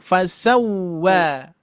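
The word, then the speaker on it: فسوى: Huruf wau dominan memonyongkan dua baru diucapkan fasau. Ah itu ya. Fasawwa. Fasawwa jangan fasawwa wo.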